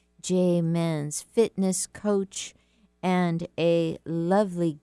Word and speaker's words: Muenz: We're talking today with Jay Menz, and that's spelled M-U-E-N-Z. Jay Menz, fitness coach and a lovely gifts activator.